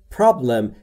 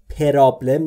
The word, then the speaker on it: problem: دقت داشته باشید دوستان، تلفظ problem، پرابلم نمیگم، بین پی و آر صدایی وجود نداره، پس ما هم صدای اضافه نمی کنیم.